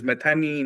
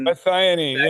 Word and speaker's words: methionine: And so which are the foods that uh contain this uh I can't even pronounce this. Methanine. Methionine.